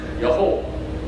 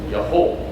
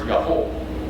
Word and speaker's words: Yaholt: And the word is Yaholt. Yaholt. It's kind of like Yaholt. If you want to pronounce it that way, it's easier in English. The word's Yaholt.